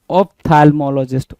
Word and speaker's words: ophthalmologist: 13 की बात करेंगे, 13 क्या कह रहा है, बिल्कुल सिंपल ही आप देखिएगा, ऑप्थेथाइलोमोलॉजिस्ट, ऑप्थेथाइलोमोलॉजिस्ट, है ना, थैल्मोलॉजिस्ट, ऑप्थैल्मोलॉजिस्ट, ऑप्थैल्मोलॉजिस्ट।